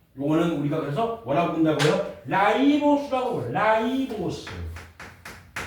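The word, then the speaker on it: ribose: 여러분들 선배는 리보스라고 외웠어요. 리보스 너네 보스 리보스 이렇게 해서 외웠어요. 요거를 이제 이게 영어로 쓰면 ru 라이보스 이렇게 쓰거든요. 그러니까 요거를이 영어식 발언해서 라이보스라고 발언을 하니까 이렇게 바뀐 겁니다.음 음.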